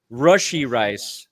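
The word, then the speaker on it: Rashee Rice: you're looking for reasons rushy rice not RI okay okay you know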